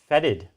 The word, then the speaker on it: fetid: Yeah. Fetid. Fetid. Yeah, it is fetid. You said it first, he made me say it wrong.